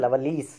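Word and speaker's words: Lovelace: robert herrick richard lovelies you have to pronounce it as a lovelies and thomas carey not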